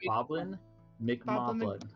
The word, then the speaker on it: Boblin McMoblin: It's Boblin. It's Boblin McMoblin. Moblin, yeah. I said it right the second time.